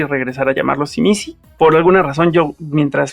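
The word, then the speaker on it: Tzimisce: Yo me yo trataré de regresar a la pronunciación del libro y regresar a llamarlo Simisi por alguna razón.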